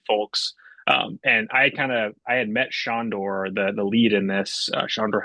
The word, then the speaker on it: Sandor Helderman: Yeah, Shondor, yeah, Sandor. is how it's pronounced.